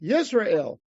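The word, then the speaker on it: ישראל: So they did it German-wise, with a J. But how do they pronounce it? Yisrael. Yisrael, yeah. Yeah, they would pronounce it yeah, because a J, like Jacob. How did Jacob become with a J? It's because in German a J, you write J, it's a Y.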